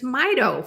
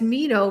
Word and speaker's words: Mito: Mido and he goes it's Mido for mitochondria and I'm like that makes the most sense mitochondria Mito I have been mispronouncing Mido as Meo for years now anyway